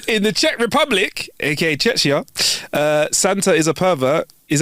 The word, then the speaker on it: Czechia: No, it's Czechia.